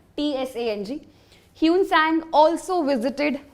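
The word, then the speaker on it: Hsuan Tsang: ह्यूनसांग कौन है ना, कई जगह कुछ और भी लिखा होता है, जिनजियांग लिखा होता है ना, ठीक है।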